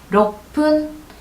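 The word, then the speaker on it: 六分: 자, 로끄 어때요, 여러분? 센 발음 나왔죠? 그러면 이치랑 똑같이 가시면 돼요. 럭푼.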